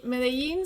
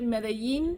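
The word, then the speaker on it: Medellín: For example, Medellin, some people will say Medellin, some Yes. people will say Medellin. Yes. Me as an Argentinian, I say Medellin. It's like stronger. My pronunciation is stronger.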